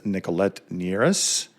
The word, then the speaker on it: Nicolette Nierras: Joining me today is Nichollet Neras. Did I pronounce that correctly?